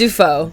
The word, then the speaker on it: Dufault: It's Dufault. Dufault. Yeah. That was close, you know. It's like Willem Dafoe.